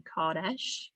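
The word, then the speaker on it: קדש: 2b set apart or tells you how to pronounce it too kaddash you don't know so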